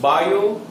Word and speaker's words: Biot: अब ये magnetic field की जो वैल्यू है, उसका जो इक्वेशन है, वो दो साइंटिस्ट बायो और सावर्ट, बायोट में टी साइलेंट है, सो बायो सावर्ट, ये दोनों साइंटिस्ट ने ये